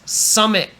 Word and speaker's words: summit: word is Summit now for pronunciation you know I love talking about teas and how Americans don't say tea we don't say submit too much too much tea this is called a stop where you you start